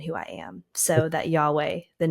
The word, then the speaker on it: Yahweh: Hebrew word for God when you say Yahweh and pronounce it how it's properly pronounced it actually mimics a breath so when you're saying the the name of God Yahweh you're actually mimicking a